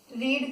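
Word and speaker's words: read: रीड, रीड ही है, लेकिन जब भी पास्ट टेंस आ जाता है, V2 हो या पास्ट पार्टिसिपल V3 हो, तो सिर्फ इसकी प्रोनाउंसिएशन चेंज हो जाती है। हम इसे रेड और रेड पढ़ते हैं, स्पेलिंग रिमेन्स द सेम।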